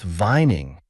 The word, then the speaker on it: Vuyning: "It's pronounced Vuyning," he said, as he tossed it over to the other, "and I'll be as frank with you.